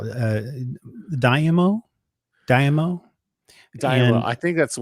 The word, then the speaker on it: daimyo: Daimyo. And I think that's the way they pronounced it in the show.